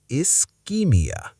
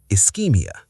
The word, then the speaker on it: ischaemia: Ischaemia. British spelling again has extra A compared to American. The SCH makes a K sound here, not sh, not ch, K. Ischaemia. Ischemia.